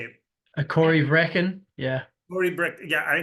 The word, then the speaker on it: Corryvreckan: say it how do you say it a Cory Breen yeah Cory bre yeah I know it's it's